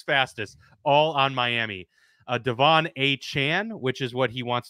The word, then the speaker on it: Achane: He is not Achane. He even told the Dolphins media staff to change the pronunciations in the media guides. It is Achane, apparently.